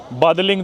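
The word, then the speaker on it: Badaling: Main station पे आओ, बादलिंग जो स्टेशन है, इंग्लिश में पढ़ोगे तो अपन बादलिंग प्रोनाउंस करेंगे, पर चाइनीज में बोलते हैं बादालिंग, ऐसे अजीब सा तो अपन आ गए बादालिंग।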